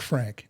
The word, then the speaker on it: Frank: and your La your your last name is spelled like Frank f r an K but pronounced Fran and I had a